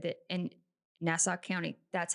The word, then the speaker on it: Nassau: It was a horrific crime scene, to the point where one of the detectives said that in Nassau County, that's how you say it, There you go.